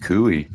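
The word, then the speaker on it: cuy: I figured Canadian Spider-Man was going to jump in with Kooie because he's been to Peru and other countries when we were talking about tribles.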